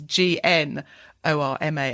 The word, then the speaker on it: gnorma: in the title and norma is is gn o r m a I think because that's a sort of visual gag from the start isn't it I pronounce it gnorma throughout just to add the g in yeah um and when